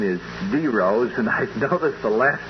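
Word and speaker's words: dero: thing Dominic you told me that the correct pronunciation is D Rose and I've noticed the last 20 minutes you've been saying Daryl what is it oh I guess it's force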